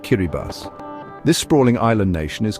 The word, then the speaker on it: Kiribati: rather unique geographical claim, Kiraabadi, pronounced Kiribas.